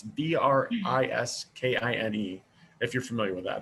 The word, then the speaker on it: Briskine: It's called, I believe it's pronounced Briskine or Briskine. It's Briskine.